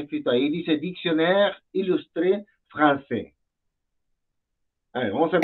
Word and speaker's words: français: Si te das cuenta, tiene la C, cedil, que le llaman, que hace el sonido de una S, ¿no? Y ahí dice Dictionnaire Illustré Français.